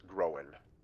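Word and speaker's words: Gróin: But because it has that apostrophe above the O, it's pronounced Groen.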